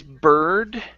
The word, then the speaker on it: bird: other one here is bird okay pronounce that d instead of burr wasn't the bur the